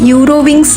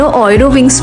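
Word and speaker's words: Eurowings: আচ্ছা, তোমরা না অনেকে আবার ভাবতে পারো আমি এটাকে ইউরোউইংস না পড়ে কেন অয়রোউইংস পড়ছি। আসলে জার্মান ভাষায় কিন্তু ইউ কে অয় উচ্চারণ হয়।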